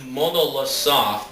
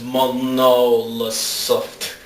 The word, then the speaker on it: Monolith Soft: this is just like jrpg it's made by model soft or i don't know how you say it no not microsoft uh not microsoft it's monolith soft bow no like the first part of the